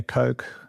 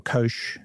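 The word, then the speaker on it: Koch: Um the four astronauts Reed Weisman, Victor Glover, Christina Ko or Kosh depending on how you want to pronounce it, Jeremy Hansen uh have become the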